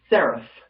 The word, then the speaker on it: seraph: The P with the line over it's like an F. Like a seraph, right?